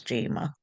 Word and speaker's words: Jayma: um, you know, I will correct someone if they do mispronounce it. I'll just say that's Jayma.